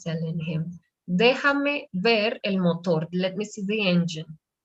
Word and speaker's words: motor: Déjame ver el motor. Abre el capó. El capó. El motor. No, el acento está en la segunda sílaba.